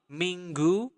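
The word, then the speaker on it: Minggu: time Ming Ming okay the Nestle sound there Ming M Dean okay follow me and repeat after me mingu Dean okay what about next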